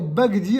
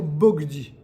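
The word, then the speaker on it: בגדי: veut dire quoi concrètement le kamat normalement il se prononce a mais lorsque le kamat il est placé avant un che va ce kamat et bien il devient furtif c'est-àdire qu'on va plus le prononcer ah on va le prononcer o vous vous comprenez ce que je dis on va prononcer o au lieu de dire au lieu de dire bagdi on va dire bogdi et c'est une règle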